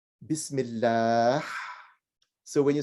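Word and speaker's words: بسم الله: So when you, and this is the same letter that's used when we say Bismillah. So when you say Bismillah, so it expirates. Bismillah. Go ahead. Bismillah. Yeah, right. Okay. Bismillah.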